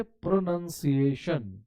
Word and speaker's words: pronunciation: लीजिए तो इसको बोलेंगे प्रोनंसिएशन क्या बोलेंगे प्रोनंसिएशन प्रो नन नाउन नहीं प्रोनंसिएशन और इसको बोलेंगे प्रोनाउंस